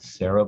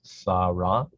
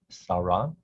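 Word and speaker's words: שָׂרָה: In English, it becomes pronounced Sarah, but in Hebrew it is Sarah, Sarah.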